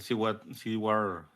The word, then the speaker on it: Seward: También tenemos al Seward, pronuncia así, Seward Trainer, que es un experto genetista,